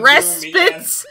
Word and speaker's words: respite: So you had like, a couple years of respite. No, I had a few months. Oh. And then the Respites? Respites? Yeah, I don't know how to fucking pronounce it.